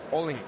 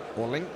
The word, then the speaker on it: Oleinyk: And I pronounced his name, Oleinyk. I believe that's Oleinyk. Against Konstantin Airich.